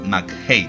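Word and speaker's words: McHattie: villanos en este caso gabriel interpretado por steven mac hate y pónganle en que se pronuncia así un jefe mafioso que infecta las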